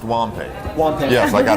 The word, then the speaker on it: Wampei: a WOM Paycom it's W and Pei comm pronounced womp a one thing else I